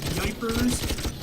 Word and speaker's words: Ypres: I used to know the actual numbers of the Battle of Ypres, or Yippers, or however you want to put it. It's all pronounced it's like Yipers. It's very weird English pronunciation.